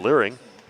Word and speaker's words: Liring: Sitting down will be Brooklyn Liring. Rhymes with earring.